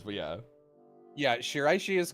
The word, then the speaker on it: Shiraishi: Sorry, I'm gonna mispronounce all these names, but yeah, Shiraishi is correct.